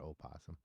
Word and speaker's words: opossum: just talking about animals is it possuma oh possum it's all possum nobody says well I won again I've never met anybody calls it opossum I don't know why I spelled like that okay so here somebody